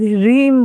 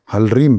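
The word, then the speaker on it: ह्लीं: पर इस मंत्र के उच्चारण में भी मैंने बहुत विशुद्धियां देखी हैं। देखिए जो आज आपसे पता चला कि ल भी आता है, लोग रीम बोलते हैं। देखिए ऐसा है, हमें हलीम भी बोलते हैं, रीम भी बोलते हैं, हाँ जी, है ना। और हमें अपने गुरु के माध्यम से सही उच्चारण के स्वरूप हलरीम मिला है, और हम भी मानते हैं कि हलरीम ही सही उच्चारण है।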